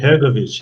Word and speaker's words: Hrgović: Yeah, Hrgović.